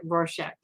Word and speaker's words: Rorschach: which by the way i looked it up i'm supposed to pronounce it rorschach and you know i